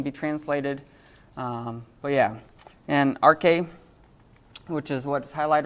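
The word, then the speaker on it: ἀρχή: So it means beginning, but think about the word, arche. It sounds weird, doesn't it? It sounds like archaic.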